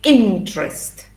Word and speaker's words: interest: You say interest. 2 syllables, no es interest, ¿sí? Interest, interest, interest.